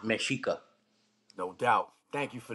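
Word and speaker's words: Mexica: Aztec were called the mesika and it's spelled me X IA but it's pronounced mesika no doubt thank you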